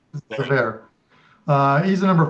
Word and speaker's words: Zverev: look at the other one, it's Cork and Zareva. Did I spell that? Did I say that right? Zverev.